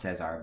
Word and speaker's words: Cesar: I mean, in Spanish it's pronounced Cesar, but Cesar Gracie Jiu-Jitsu fight team.